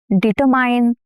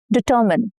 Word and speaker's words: determine: How do you pronounce this word? Determine? No, incorrect. Determine.